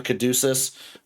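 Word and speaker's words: caduceus: A kaducus.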